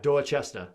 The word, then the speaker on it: Dorchester: of boston called dorchester which yeah you don't pronounce it like that probably dorchester dorchester do it like yeah dorchester like that's a chess stuff yeah yeah then